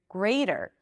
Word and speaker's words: greater: But in American English, you pronounce the R, you pronounce the T as a flap D.